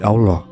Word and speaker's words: Allah: Dan dalam pengucapannya, bunyi ilulu tak terdengar dan menjadi Allah.